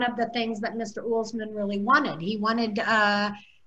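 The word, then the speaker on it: Uelsmann: His last name is pronounced Ullsman, and he was really,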